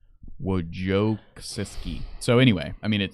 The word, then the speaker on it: Wojcicki: You would want to say Wozniak, but Wozniak was the CEO of Apple. Wojcicki.